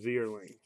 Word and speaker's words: Vierling: Sean Jelly refractor, as well as Vierling. Now that I know that's how you pronounce his name, I'm gonna say it loud and proud.